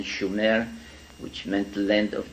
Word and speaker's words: Sumer: in a land called sooner in in in the correct spelling and pronunciation schumer which meant the land